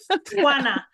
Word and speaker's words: Juana: Juana. It's like Juana. you have something in your throat, you're trying to get it out. Juana.